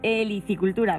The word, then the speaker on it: helicicultura: veterinario y experto en helicicultura esa palabra que seguramente que ustedes habrán oído muchas veces pero se la repito para que se aprendan suena muy bien se escribe con h helicicultura para que sí y